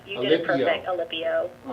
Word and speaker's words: Alipio: Yes, Alipio. You did it perfect, Alipio.